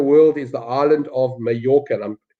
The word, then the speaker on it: Mallorca: Where in the world is the island of Mallorca? And I'm pronouncing it correctly because I'm reasonably good at my Spanish. Otherwise, a lot of people will call it Majorca, but it's not Majorca, it's Mallorca.